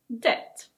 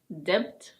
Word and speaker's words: debt: And now some words with a silent B.